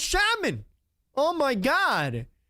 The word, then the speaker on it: Shaman: Bros, it's not pronounced Shaman, it's pronounced Shaman.